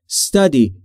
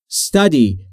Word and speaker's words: study: تلفظش رو دقت بکنید. استادی نیست. Study. Study.